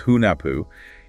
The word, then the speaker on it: Hunahpu: pronouncing these names right so Haku is hunapu and ex Balan is shalang right you got it perfect pronunciation they're absolutely Central